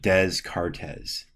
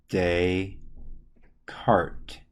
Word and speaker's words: Descartes: this e and then you don't pronounce the s's so it's just day cart now you might recognize